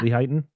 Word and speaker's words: Lehighton: Well, what they did is the Abaddon Hotel was a hotel in Lehighton, is that how you pronounce it? In Pennsylvania? Lehighton, yeah. Lehighton, Yeah.